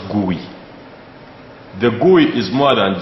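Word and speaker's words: GUI: on a monitor is the graphical user interface pronounced buoy the buoy is more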